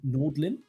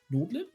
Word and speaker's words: Nordin: We have the Autobots versus, how are we pronouncing this? Nordlin? Nordin. Combination Nordin.